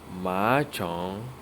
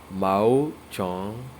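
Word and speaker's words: 毛虫: So now caterpillar is called ma chong, ma chong, mao. Sorry, it is pronounced as mao chong, mao chong, which is literally translated as hair insect.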